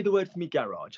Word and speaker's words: garage: Give me the noise that the first G makes. Ga. And what does the last G make? Je.